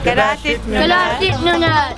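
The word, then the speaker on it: Kalaallit Nunaat: Kalaallit, Nunnat.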